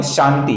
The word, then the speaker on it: शांतिः: फिर नाम है शांति, यहां पर फिर से एक बार श है और आगे का जो ति है ये ह्रस्व है, इसका हमें लघु ही उच्चारण करना है। शांति ही, इसके विसर्ग का आगे प आने के कारण हम अपूर्ण फ ऐसा उच्चारण करते हैं।